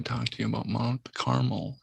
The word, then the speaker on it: Carmel: very aware of mount carmel and uh i don't say caramel because that is just not how it's pronounced but a-r-m-e-l it reminds